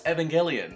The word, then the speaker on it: Evangelion: I was like, "No, it's Evangelian." And I was like, "Oh, okay. Well, it's not a hard G."